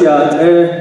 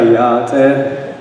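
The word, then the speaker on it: Yá'át'ééh: And what I said was Yate, meaning hello in Navajo. Give it a try, Yate.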